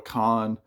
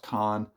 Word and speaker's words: Kahan: And there's a guy that's been taking it by storm named Noah Kahan, and it's spelled Kahan. I believe it's pronounced Khan.